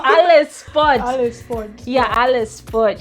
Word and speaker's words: Ale's Spot: You like Alex Spot? No, Alice. Oh, Alice Spot.